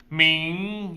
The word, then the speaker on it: 明: 明 easy sound. 明 going up. 后 going down. Going down, so 后. So we learned 天 is the day, right? So 今天 today. 明天 tomorrow.